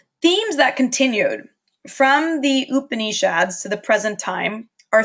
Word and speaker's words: Upanishads: And this period and these new texts are called Upanishads. I've also heard that pronounced Upanishads.